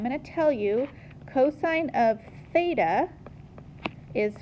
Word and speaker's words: theta: is the Greek letter theta it's their equivalent of the letter T okay beta it is not pronounced with an F some people mispronounce it